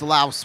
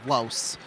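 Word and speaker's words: Lohse: Here's Laos with it. Well, Los, that's how it's according to the pronunciation guide.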